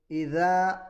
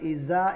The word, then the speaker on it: إذا: إذا زلزلت الأرض زلزالها ഇവിടെ ഓതുമ്പോൾ ഇദ സുൽസിലത്തി ഇദ എന്ന് പറയുമ്പോൾ ദാൽ ആണ് അക്ഷരം. അപ്പോൾ ഓതുമ്പോൾ ഇസ എന്ന് ഓതിപ്പോവരുത്. പലരും ദാലിൻ്റെ ഉച്ചാരണത്തിൽ സാക്കി ഉച്ചരിക്കുന്നത് കേൾക്കാം. ഇത് തെറ്റാണ്.